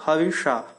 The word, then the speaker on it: हविष: इसमें जो यह स है जिसे पेट कटा श कहते हैं। मूर्धन्य श भी बोलते हैं। इसका उच्चारण मूर्धा से होना चाहिए जो ख से मिलताजुलता होता है। ख जैसा नहीं होता। बिल्कुल ख नहीं होता लेकिन ख से मिलताजुलता इसका उच्चारण है। जिसको कहते हैं श तो हविष फिर ठीक है।